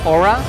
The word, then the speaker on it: Orah: 2016 and you are with aura am i pronouncing it right yes go up perfect and